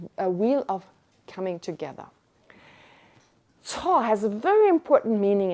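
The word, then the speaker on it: ཚོགས: That's the Wiley, but the way you pronounce it is TSOG or TSOK.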